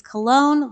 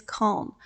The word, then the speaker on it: Köln: let's clear the air the English spelling and pronunciation of the city is cologne like the perfume but I asked the local at our hotel the correct pronunciation and she said it is col so if you're looking